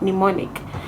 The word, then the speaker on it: mnemonic: It's MNO, okay, MEMONIC, okay, but since the M is silent, you might think that it's MEMONIC, mnemonic, but you should pay attention to some of these silent letters.